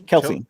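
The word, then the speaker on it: Kelce: How do you pronounce that name? Kelsey. Kelsey.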